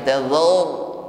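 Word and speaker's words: تذر: Tazar, jangan tazar, za-nya ikut-ikut menjadi tebal.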